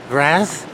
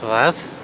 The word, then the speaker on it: Reims: I was actually going to go to the city of Raz, I think that's how you pronounce it, Raz. It looks like Reims, but it's Raz.